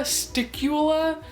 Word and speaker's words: stiqula: I know it's spelled like it rhymes with tequila. Yeah, I'm just gonna go for it. It's tequila, sticula.